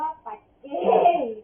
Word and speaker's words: ปัจเจ: ข้อ ที่ 3 ว่า ปัเจพุทธา อ๋อ มัน ออก เสียง ว่า ปัจเจ ข้อ ที่ 3 นะ